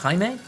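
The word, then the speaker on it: Jaime: In some countries, I think the way my name is spelled would be pronounced haime, but uh Jamie has always been how it's pronounced.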